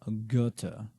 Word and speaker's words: Goethe: they really are and this guy's name is German so it's not pronounced like it's written johann von Goethe is his name so we need